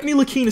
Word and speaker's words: Ntilikina: Okay, so I know Frank Ntilikina starts with an anti.